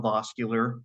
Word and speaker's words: Voskuhler: Like I said, Voskuhler. I pronounce it vascular, but with an O is the easiest way I tell people to do it.